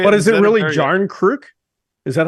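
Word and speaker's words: Järnkrok: No, but that's not what he said. It was a hard J. Jarnkrok.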